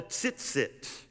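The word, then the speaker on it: tzitzit: are called the tsitsit so if you want to know some hebrew it's called sitsit if you want to even try to pronounce that most of us would start speaking in tongues if we said that sit sit they were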